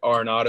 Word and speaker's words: Arenado: But Arenado is how you say it.